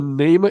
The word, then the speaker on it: Nahma: this location, as far as the that's the Nama Inn. That's spelled Nahma.